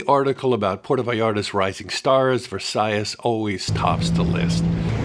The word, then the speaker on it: Versalles: Area number one is Versace. Now the word looks like Versailles which was the palace still there in Paris but this is just pronounced different being Spanish and all.